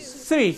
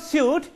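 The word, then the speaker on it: suite: Sweet. Sweet. But it is not suit, it is sweet, as in S-W-E-E-T.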